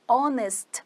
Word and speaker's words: honest: Mas honest person tem o som de on.